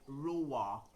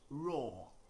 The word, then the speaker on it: roar: now it's not roar pronounce that word as raw the lion roars not the lion lois okay the same pronunciation